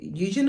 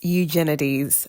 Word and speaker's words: Eugenides: say it Jeffrey uh Eugen is it my bad it's eugenides so Jeffrey eugenes so I got that wrong oh well back to